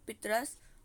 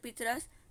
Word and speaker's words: पतरस: इनके जो इंतखाब मज़ामीन पितरस, मज़ामी कुलियात पितरस, तख्लीक़ात सॉरी पतरस है इनका नाम, ठीक है, पितरस नहीं पतरस, प्रोनाउंसिएशन गलत निकाल रही मैं, पतरस बुखारी।